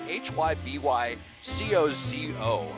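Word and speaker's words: Hybycozo: fuen sparkling geometric installations from uh it's you pronounce this hi by Koo it's hyb co zoo and the rose Gard I can attest that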